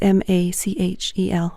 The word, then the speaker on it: Machel: The last name is Machel. Rhymes with Rachel.